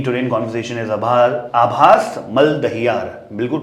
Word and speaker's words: आभास मलदहियार: आबिर Lahiri joining me today in conversation is आभास मलदहियार बिल्कुल pronunciation सही लिया Absolutely विद दिस correct.